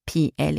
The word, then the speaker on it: plus: context of the sentence and the S is always silent in negative sentences basically always pronounce the word p l u s some examples